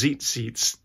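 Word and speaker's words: tzitzit: can read about him I think they're pronounced Zeit seats and there are these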